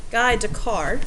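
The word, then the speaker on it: Descartes: gives us a lot of numbers so this guide to card is how you say his name this mathematician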